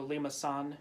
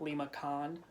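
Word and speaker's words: limaçon: under the sea and this little accent mark means it's a soft C so Lemus on and not limacon then this last one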